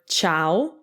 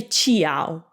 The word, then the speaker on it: ciao: and you get cha so that's why in the word ciao ciao we don't say qiao why because the eye's purpose is not to be pronounced the eyes just there to soften the scene so another example is